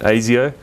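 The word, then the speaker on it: Asio: for anyone who's been wondering that's how you pronounce it AIO so you can I don't want to hear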